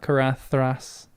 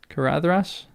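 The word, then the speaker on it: Caradhras: Galadav and Karadras. Not Kathras. Kuradrash. Kuradrash. Oo, I got a perfect. That makes me happy. All right. Well, let's keep going. I need to practice that in my own time. Katras. Oh, the stress is on the C.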